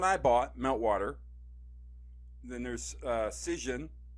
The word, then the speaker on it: Cision: Then there's Cision, like Precision, I think that's how it's pronounced, Cision.